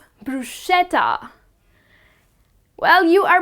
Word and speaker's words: bruschetta: garlic it's delicious but the correct way to pronounce it is bruschetta and not bruschetta moving on to the most common thing that